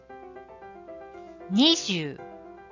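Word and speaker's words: nijū: in Japanese ni times ju so it's pronounced Nishu Nishu let's see the next one number 30.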